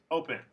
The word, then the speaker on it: open: rule so for example listen offer open are all two syllable verbs but the stresses on the first syllable these are the exceptions